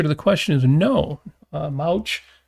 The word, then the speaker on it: Mouch: Mouch, it's funny because a lot of people will pronounce that mooch, which kind of makes sense, even though it's not how that's pronounced.